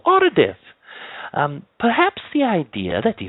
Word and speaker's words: Aridif: My name is Aridif.